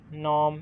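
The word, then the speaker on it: gnome: Next नॉम, इसका जी।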